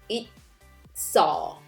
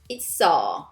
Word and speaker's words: 있어: Basic would be 있어. Notice how I sound shift 있어. 있어.